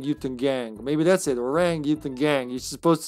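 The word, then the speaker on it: Orang-utan Gang: Orang Yutan Gang.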